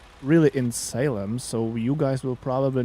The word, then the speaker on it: Salem: How it's pronounced? Salem. Salem. I would say Salem.